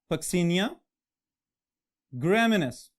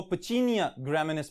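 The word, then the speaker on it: Puccinia graminis: Alright, अब अगर हम इसको थोड़ा सा और यूरोपियन एक्सेंट में ले जाएं तो इसको पचीनिया ग्रामिनेस भी कहा जाता है, लेकिन हम अपने स्पेलिंग्स की आसानी को भी देखेंगे.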